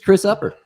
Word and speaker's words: Opper: Everybody, this is Chris Opper. Hey, I'm Chris Opper. Yeah. Good Glad you pronounced it correctly. Well, of course, you throw people for a loop with your what is that actually called?